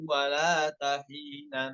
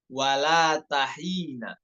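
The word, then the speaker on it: وَّلَاتَ حِينَ: Wala tahina. Ya, wala tahina, bukan wala tahin, bukan.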